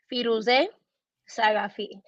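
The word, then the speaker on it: Firouzeh Saghafi: whole all right so i'll say it slow firouze sagafi okay um many attempts that's a good one that is a very good one that's exactly how you say my name i get this thing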